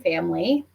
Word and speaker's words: FAMLI: And the acronym is also sort of like family, right? FAMLI. 100%. Yep. Do you want to tell us what that stands for? Yeah, so family leave, it stands for